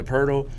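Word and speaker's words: Poeltl: Pirtle? Yeah, Pirtle.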